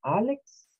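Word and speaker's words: Alex: o algo así entonces se les dice siempre álex como los knicks porque los knicks de new york' verdad que es un equipo de facebook puede ser pronuncia igual mix igual a álex es el mismo que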